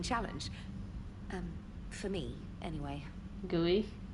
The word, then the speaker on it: GUI: um for me anyway gooey i can't believe they pronounced it as gooey isn't it just gui personal history where are